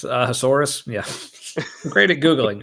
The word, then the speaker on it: Ahasuerus: I don't know how to pronounce that. Ahasuerus Suerus. sounds like a dinosaur. It's Ahasuerus.